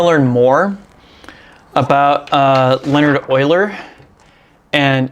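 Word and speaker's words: Euler: a phenomenal book I would recommend it's called Oiler Gem and Oiler is spelled e l r because the Dude is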